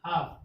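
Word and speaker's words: half: Rules ना पता हो, वो इसे क्या पढ़ेंगे? हाल्फ। क्या पढ़ेंगे? हाल्फ, जो कि इसमें क्या है? एल क्या है? साइलेंट है। जब एल साइलेंट है तो क्या हो जाएगा इसका? हाफ।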